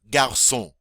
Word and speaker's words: garçon: Un garçon. Un garçon. All right, you give it a whirl. All right, notice the cedille under the C, which makes that hard C soft.